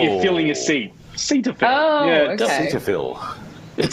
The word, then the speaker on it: Cetaphil: It's as if you're taking a seat. It's Cetaphil. Oh, like you're filling a seat. Cetaphil.